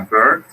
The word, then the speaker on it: bird: A bird, this is the pronunciation. Ver, Bird, esto como ver, una E. Bird, ajá, bird, ver, ver.